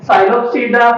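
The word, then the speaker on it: Psilopsida: पहली इसकी sub division साइलोप्सिडा, लाइकोप्सिडा, स्टेफेनोप्सिडा। बात की समझ आ गई, इसमें पी साइलेंट है। साइलोप्सिडा, लाइकोप्सिडा, स्टेफेनोप्सिडा।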